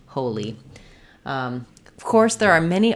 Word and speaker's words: Holi: You can think of this, it's the same as our word in English, holy, and that has first syllable stress, the O vowel, and the E, the letter I says the E sound, li, holy.